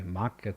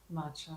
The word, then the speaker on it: matcha: If you don't drink coffee, maca tea, is that how you say it? Or is it matcha? matcha.